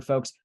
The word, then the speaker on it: Folx: this one is a company called folks Health it's spelled folx that's focused on primary